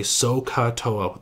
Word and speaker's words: SOHCAHTOA: I always say that you should really try to pronounce those ages so ha ha okay so if you're at home I want you to like pause right now and say sohcahtoa those heart H's to remind yourself that the hypotenuse is there